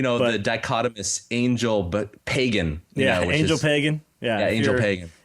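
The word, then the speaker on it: Ángel Pagán: Angel Pagan. Yeah, Angel Pagan. If you're a true American, that's how you say his name.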